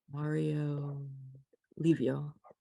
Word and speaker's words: Mario Livio: Mario Livio. Yeah. That's how it's And I can pronounced.